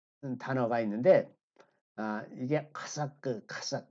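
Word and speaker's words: חָשַׁק: 자, 여기 보면 여기서 이제 그 하나님을 사랑하고라고 하는 아, 단어가 있는데 이게 카삭 이게 좀 발음이 그 후음입니다. 후음. 속에서 나오는 후음이라 카삭 그렇게 되는데 이 하나님을 사랑하라고 번역되어 있는 단어가 이 하사크는 찰싹 달라붙는 겁니다.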